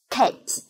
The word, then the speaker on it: cat: Vậy thì cách đọc hoàn chỉnh âm này, từ này của người bản ngữ sẽ là k, e, t, cat, k, e, t, cat.